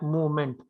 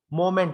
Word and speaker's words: moment: I heard a pronunciation like movement. Moment. Moment. Moment. We have to say simply as a moment, not movement. Movement. That pronunciation should not be there.